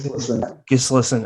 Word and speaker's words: Gislason: Inside Out by Laura Gislason. Is that how you say it? Gislason.